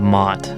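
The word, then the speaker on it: Maht: This is a player named Mott. It's spelled M A H T.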